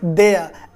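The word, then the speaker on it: there: देयर. लगेगा कि आप देयर बोल रहे हैं, लेकिन एक्चुअली में आर यहाँ पे साइलेंट रहता है, आर यहाँ पे साइलेंट रहेगा, तो आप बोल क्या रहे हो उसको?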